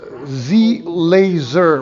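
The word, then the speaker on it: ZLAZR: wooden pieces it's a business called z laser with uh it's spelled z-l-a-z-r and they sell wooden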